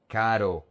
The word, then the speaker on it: caro: The R is a soft R. So you just need to say ko make it flow like when you say in English in American English butter water better caro.